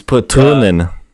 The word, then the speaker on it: Patronen: It's Patronen. That's the correct German pronunciation.